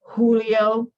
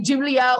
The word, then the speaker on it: Julio: Please, if someone tells you their name is Julio, say Julio. Don't say Julia, Julio, whatever, it don't matter.